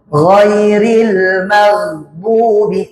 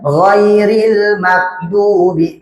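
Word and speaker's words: غَيْرِ الْمَغْضُوبِ: 3 ghairil magdubi ah ini memang susah kalimat ghairil maghdubi ini susah kadang bacanya ghairil makdubi atau ghairil magdubi ghairil magdu ah kadang gitu habis Ma mati ke huruf G. Tempat diletaknya di ujung di ujung tenggorokan.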